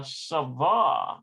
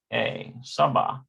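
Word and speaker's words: סבא: at this here uh savah is grandpa or saba saba like s-a-b-b-a saba okay so we got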